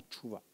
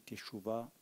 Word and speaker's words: techouva: On a vu le concept de la repentance, de la techouva, qu'on dit en hébreu plus exactement tchouva. Mais pour la prononciation compréhensible des membres, on dit techouva.